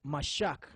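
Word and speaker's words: משח: Now the word anoint is mashak. Ma-sha-cha. But the ma is separate.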